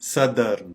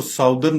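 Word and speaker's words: southern: वाली साइड बताएंगे तो हम कहेंगे सदर्न, सदर्न। आमतौर पे इसको साउदर्न पढ़ा जाता है, जो कि बिल्कुल गलत है।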